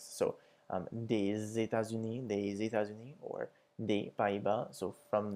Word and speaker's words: États-Unis: And the S makes a Z sound when it comes before vowels, just as the O with the X. So des États-Unis, or des Pays-Bas, so from the United States or from the Netherlands.